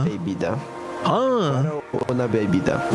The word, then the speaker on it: bebida: Berbita. Bebida. Huh. Una bebida. Bebida, not baby.